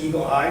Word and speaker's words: Eagle AI: but Eagle AI is it's just Eagle Eye now Eagle ey I okay but it's spelled AI right yeah okay not sure